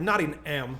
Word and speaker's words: Nottingham: now so it's like naughty m yeah yeah not like birmingham alabama is that exactly which